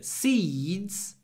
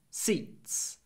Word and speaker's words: seeds: lot of Y seeds before the voiced du but seats seats it's very short before an unvoiced T So seeds seeds seeds seats I don't